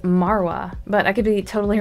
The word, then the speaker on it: Margwa: guy say this word, he's making it sound like the G is silent, and you can see GWA also in Margwa, so I don't think it's pronounced Margwa, I think it's pronounced Marwa, but I could be